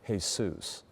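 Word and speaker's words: Jesús: And then after a while, a police officer radioed back, ma'am, I think it's pronounced Jesus. And she was laughing because she'd never taken Spanish.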